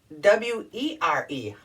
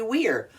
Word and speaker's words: were: to wear fun earrings wear okay now take w e r e how do we pronounce that it looks like it should be